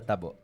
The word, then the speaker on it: tabo: How do What's the proper way to say it? I'm asking Raph, our guy here at TMC who helps us uh with our show. Tabo. Yeah. Tabo. Tabo. Yes. Okay.